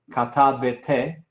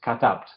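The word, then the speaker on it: כתבת: Entonces es katabt. No es katabete, no es katabte, es katabt. No hay ningún sonido del Shewa que está en esta palabra.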